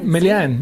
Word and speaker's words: Melean: How do you say your last name? Melean? Melean. Yeah. It is almost French as well.